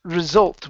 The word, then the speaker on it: result: the message okay good this word here is pronounced result with the stress on the end as a result as